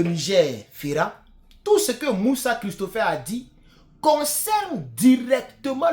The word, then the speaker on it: Mussa: Christopher Moussa, son Moussa, c'est pas la même chose comme le Moussa que nous connaissons. Son Moussa, je crois que c'est M-U-2-S-A. Voilà. Mais c'est pas grave, c'est la même prononciation.